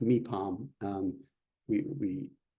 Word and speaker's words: Mipham: letters, but it's pronounced Mipham. Um We we when we see a P in English, we say we put a little puff of breath after the P, right?